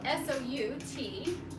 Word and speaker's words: Soutenu: Now we'll move on to Soutenu, which is spelled S-O-U-T-E-N-U.